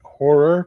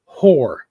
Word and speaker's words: horror: know for why, but he would mispronounce it and always say whore. Horror. Let's check out my horror collection.